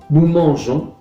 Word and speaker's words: nous mangeons: Manger lo mismo, nous mangeons, modificación de la raíz, se añade la E después de la G para que la palabra se siga pronunciando jon y no con.